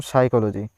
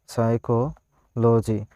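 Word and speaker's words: psychology: এই ধরনের ইংলিশে অনেক শব্দ রয়েছে, যেমন সাইকোলজি, সাইকোলজি, সাইকোলজি বানানটা কী দিয়ে শুরু হচ্ছে? পি দিয়ে শুরু হয়।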